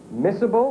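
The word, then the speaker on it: miscible: Missible is how we would have pronounced it.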